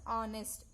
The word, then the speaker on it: honest: Here we have to keep the H silent and we have to pronounce honest.